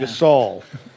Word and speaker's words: Gasol: he's an NBA basketball player oh gasel yeah Gasol we got some local birthdays today want to